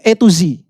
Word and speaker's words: Atos: Lu tahu Hyundai Atos? Ah Hyundai Atos tahu. Hyundai itu bacanya A to Z.